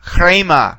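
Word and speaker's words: ῥῆμα: And so the word is actually pronounced chrema, chrema.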